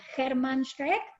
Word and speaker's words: Hermann Shreck: muy felices, muy agradecidas a Germán Schreck. ¿Está bien pronunciado así, Germán? Perfecto, Viviana, perfecto.